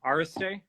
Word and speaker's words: Iristay: I've been saying your last name wrong this whole time. Iristay?